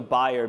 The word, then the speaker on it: Bayer: this one I say Bayer clap your hands if you say Bayer thank you thank you okay I think the German thing is yeah well I think so buyer being the German pronunciation which do we have